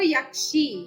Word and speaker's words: യക്ഷി: അപ്പം അത് സംസ്കൃതത്തിൽ വരുമ്പോ യക്ഷി, യക്ഷി, യാ തന്നെ, യായുടെ ശബ്ദം അവിടെ വരണം, യക്ഷി.